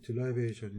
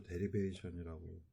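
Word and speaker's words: derivation: 예, 유도하다, 딜라이베이션이 되겠고요. 뭐, 사람에 따라서 데리베이션이라고 읽는 사람도 있는데, 어딘가 좀 안 멋있죠.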